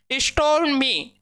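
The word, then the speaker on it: stormy: क्या होता है तूफानी स्टो में ठीक है आर इस में क्या होगा साइलेंट होगा स्टोम इसे बोलेंगे स्टोम क्या होता है तूफानी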